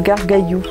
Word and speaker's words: Gargalhous: planter 2003 les gargallo je reviens un petit peu sur ce nom étrange qui en fait se prononcent garde cailloux ou dans l'indre et